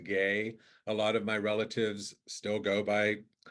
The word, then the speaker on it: Guay: The U is silent, so technically it's pronounced gay.